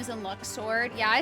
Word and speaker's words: Luxord: I keep saying Luxord and they say Luxord.